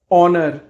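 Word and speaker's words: honour: compete compete सम्मानित करना ऑनर ऑनर ऑनर में एच साइलेंट होता है गायब होना डिसअपीयर्ड इनफेक्ट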